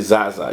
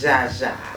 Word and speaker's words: Zsa Zsa: Now, am I pronouncing it right? I say Zaza. You say Jaja? Yes, Jaja.